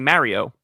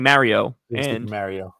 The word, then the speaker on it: Mario: The other one is um I always make fun they make fun of me because I say Mario. Like when we play Mario I say let's play Mario. They go it's Mario. I go it's not Mario.